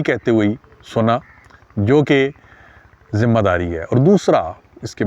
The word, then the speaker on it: ذمہ داری: واری اور ذمہ داری۔ ذمہ داری تلفظ درست ہے، ذمہ واری بولا جاتا ہے اور بڑے بڑے لوگ